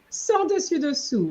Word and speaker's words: sans dessus dessous: Now, interestingly, even though we have the same word here, you don't pronounce it. It's an expression which means upside down. Sans dessus dessous, it's upside down. Okay. So we don't say sans dessus. No, because when it's upside down, we don't want to pronounce an S, because if you pronounce